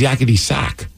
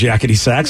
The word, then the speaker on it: Yakety Sax: I thought it was yakety sax because you play it on the sax. It's not yakety sax? I don't know, but sax doesn't rhyme with back. Sack does. Listen, if you're rhyming sack with back, yeah. Is it sax? It is. Yeah, it's sax. S-A-X.